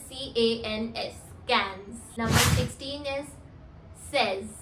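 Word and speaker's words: seize: Number 16 is says. Says. S-A-Y-S. Says for the pronunciation.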